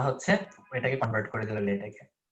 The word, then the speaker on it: LaTeX: আচ্ছা, বাংলা লেটেক নিয়ে কিছু জিনিসপত্র, বাই দ্য ওয়ে উচ্চারণটা হচ্ছে লেটেক।